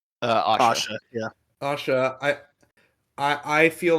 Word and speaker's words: Asha: a lot bigger of a deal because obviously Ansha, is that how you pronounce her name? Asha.